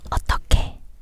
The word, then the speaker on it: 어떻게: S is pronounced is also transferred. T, so, 어떠게, no. 어떻게, 어떻게.